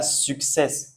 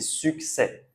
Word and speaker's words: succès: On dit pas success, pas comme en anglais. Ici c'est succès et le dernier vous avez vu, on a l'accent aigu qu'on a revu dans la vidéo précédente.